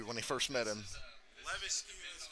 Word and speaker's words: Levesque: The first ever Paul Levesque chant.